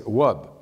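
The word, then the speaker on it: wòb: U or o or o in cre it's pronounced W like the word for dress which is in French rub in Creo it's wub but if you're thinking a transational system where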